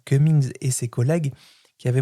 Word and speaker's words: Cummings: Il y a des travaux, je crois que c'est Cumings, ça se prononce comme ça, Cummings et ses collègues qui